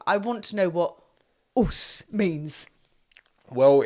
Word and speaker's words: OSU: OSU.